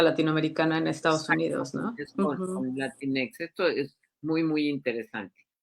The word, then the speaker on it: Latinx: cuando tienes la x Qué dices latinex latinex así es como se pronuncia Sí y se pronuncia